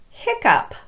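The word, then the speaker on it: hiccough: letters are pronounced off finally we have the very strange pronunciation of this word where it's pronounced up hiccup what the heck all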